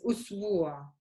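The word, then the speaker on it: أسبوع: The word for week is usbu'a. So officially there's a Dhamma here. So you say usbu'.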